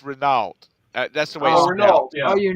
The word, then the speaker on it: Renault: up actually get my email that it's it's Renault that's the way oh you know it oh